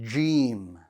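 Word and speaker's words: جيم: let's begin with gm let's pronounce it gem gem one more time gm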